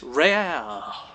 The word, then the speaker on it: AiReaL: for our other caster, who did not know it was pronounced real, saw the capital L, and decided to spice it up a bit with a French accent.